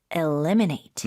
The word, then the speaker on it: eliminate: 자 다음은요 제거하다 없애다음 eliminate 주의하세요 e 발음은 eliminate 으흠 이게 remove get